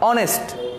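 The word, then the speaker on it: honest: এরপরে দেখো অনেস্ট, এটাকে আমরা কিন্তু এইচ ও এন ই এস টি, হনেস্ট বলি না আমরা, কি কেউ হনেস্ট উচ্চারণ করি, এটাকে বলি আমরা অনেস্ট, ও, কারণ এসটা কি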